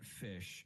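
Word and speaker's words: ghoti: never heard this yeah phonetically it is pronounced Cody yeah you can pronounce that fish because if you take GH as in enough if you take o as in women and you take TI as in premonition all of those can make that fish like expained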